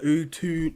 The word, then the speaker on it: Utu: Oh yeah, it's pronounced Utu. Yeah, like the emphasis on the two.